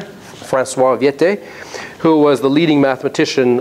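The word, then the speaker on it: Viète: And a very important contribution by Frenchman Vieta, or sometimes pronounced Viete. I guess there's an accent here. Francois Viete, who was the leading mathematician of the 1500s.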